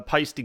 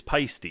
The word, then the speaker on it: Paiste: Because I've heard that it can be a nightmare with the pronunciation, but it's like feisty, it's Paiste, right? Yeah, it's Paiste.